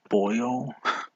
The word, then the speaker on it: Baio: people loved him too scott boyle is how it's pronounced wow i'm so uncultured i'm not cultured uh wait did he reply to himself scott bale oh scott baio the idea or the